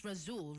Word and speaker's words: Razul: You just launched, it's Razul, right? Yes, Am I saying it correctly?